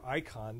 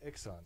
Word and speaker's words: iXon: I kind of prefer Icon, but then the salespeople at Andor call it an Ixon.